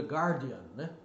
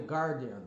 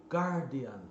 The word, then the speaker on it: Guardian: Unidos é um dos maiores do mundo de gárdian Ok the guardian tá aí é o jornal de Garden não é the guardian então eu vejo até mesmo repórteres YouTubers falando